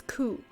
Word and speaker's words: coup: coup and assassinate us i guess it's coo like p is silent for some reason we love french so your eminence had